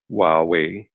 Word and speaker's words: Huawei: Huawei which is pronounced Huawei the H is silent I know that's a